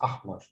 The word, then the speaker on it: أحمر: And here I don't have any short any long vowels, so it's أحمر. أحمر pronounced quickly.